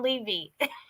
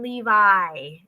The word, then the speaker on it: Levi: And I always call him Levy. So don't hate me for that. I'm just saying. It's John Levi is the correct pronunciation.